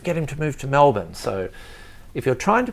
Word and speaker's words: Melbourne: him to move to melbourne so if you're trying to pronounce melbourne it's mel and then like a bun like a cream bar